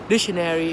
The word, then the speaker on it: dictionary: know or university right dictionary is kind of like the uh the syllable that you stress is the first one di dictionary and then the syllable